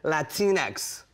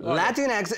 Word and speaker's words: Latinx: an article last night and it said latinx Latin like Kleenex yeah like Kleenex Latin Latin